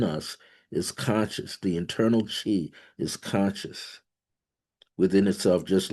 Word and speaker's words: qi: That energy is called chi. CHI ch that's the English version Chinese version they spell it QI uh over there in